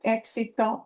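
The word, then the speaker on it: éxito: as a success on exito is a success. And there is a word with an accent mark because it breaks the uh stress rule. It's not ex.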